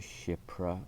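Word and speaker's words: Kshipra: The second one is 2 syllables, it's shipra.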